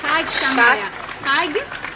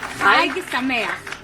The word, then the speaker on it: Chag Sameach: It could be pronounced better. Chag Sameach. Chag Sameach.